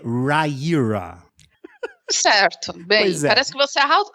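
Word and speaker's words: Riyria: i a Tá OK agora entendi e a pronúncia é Raira certo bem parece que você arrotou Mas beleza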